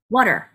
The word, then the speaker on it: water: 이렇게요 그런데 잘 들어보세요 water water 어떠세요 단어가 그냥 슉 지나가는 느낌이 드시죠 이때 몸의 길이를 늘려 주셔야 됩니다 어느 부분이냐면 강세모험에서요 자이 water에서 a라는 스펠에서는 장모음이 들어가 있어요 그래서 발음기호를 찾아보시면 a